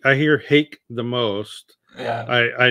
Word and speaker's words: Hake: you pronounce Hague brush so to me it's hockey because it's uh I guess Japanese yeah I I say pronounce it however you want here hate I hear hate the most yeah I